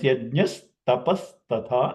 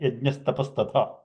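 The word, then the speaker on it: यज्ञस्तपस्तथा: So yajnaha plus tapaha plus tatha, this is from Gita 17:17, becomes yajnas tapas tatha, and it's pronounced just like that, yajnas tapas tatha.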